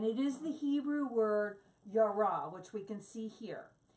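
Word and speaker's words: ירא: It's the word yar, and it's spelled yod and resh.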